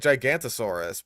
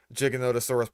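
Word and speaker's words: Giganotosaurus: These Wow, you didn't even pronounce it correctly the first time. You said like Gigantosaurus, but when when you got to its section, you actually got that right. I think that's like the first time I've ever heard Jigonotasaurus pronounced like that in one of these videos.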